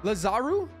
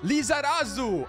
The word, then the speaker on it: Lizarazu: Lazaru? Larazu? How do you say his name? But we're going to lock in Frimpong. Lizarazu.